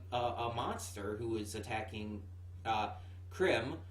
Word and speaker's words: Crim: Like we saw them fight a monster who is attacking Krim, or I guess it's technically supposed to be pronounced cream, like for obvious reasons.